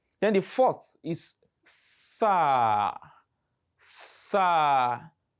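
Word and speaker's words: ث: Some people make the mistake in pronouncing this letter. They mistake it as in they mistakenly pronounce it as sin. They will pronounce sin and think they are pronouncing Tha. There is a difference between the pronunciation. When you just say, for instance, the word thumma in the Quran, which means then, thumma, and you say sum, you have just pronounced sin.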